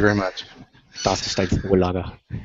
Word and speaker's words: Vorlage: That's Forlaga, by the way. I was having trouble understanding what you were saying. Thank you very much. Das ist ein Vorlage.